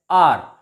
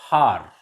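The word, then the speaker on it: hour: vowel sound for example h o u r here the word r in this word r h is silent so it is pronounced as are not har honest not honest h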